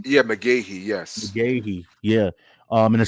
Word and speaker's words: McGaughey: yeah, McGahee, yes.